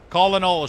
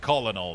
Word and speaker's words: colonel: Colonel should be pronounced colonel, not colonel. There's no R in that word.